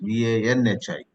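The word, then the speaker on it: वह्नि: In English also you may write Vahni, but you got to pronounce it as though it is Vanhi.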